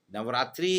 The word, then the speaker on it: नवरात्र: नवरात्रि इस योग में समाहार होता है और द्वंद्व समास होता है। इसका शुद्ध उच्चारण है नवरात्र, जिसको अपन नवरात्रि में कहते हैं, लेकिन इसका शुद्ध उच्चारण है नवरात्र।